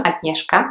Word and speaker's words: Agnieszka: And then there is also the letter combination SZ, like in my name, Agnieszka, which is pronounced sh.